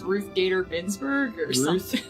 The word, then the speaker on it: Ruth Bader Ginsburg: too easy for me ask me to just pronounce the Supreme Court justice lady from ribs it's Ruth Bader Ginsburg Bader Ginsburg oh okay I was I believe